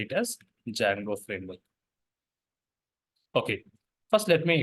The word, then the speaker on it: Django: learning Jango framework so in this word Django D is silent we should not pronounce Django that is not the right approach D silent you have to say it as Jango framework okay first let